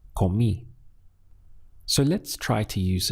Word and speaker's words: comí: You must stress this final I in order to be understood. So it has to be comí. It can't be comí because that doesn't exist in Spanish.